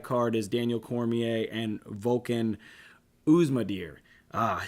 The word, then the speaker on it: Volkan: Also on that card is Daniel Cormier and Volkan Oezdemir. I said it right. Man, sometimes I have a hard time at pronouncing these guys' names. This guy, Volkan, just sounds like a Vulcan.